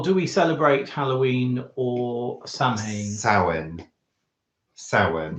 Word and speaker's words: Samhain: Well, do we celebrate Halloween or Samhain? Samhain. It says Samhain. Yeah, that's how you spell it, but it's not pronounced that way.